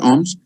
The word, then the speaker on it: Omsk: Omsk?